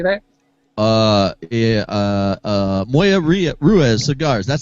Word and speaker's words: Moya Ruiz: Uh, uh, Moya Ria Ruez cigars.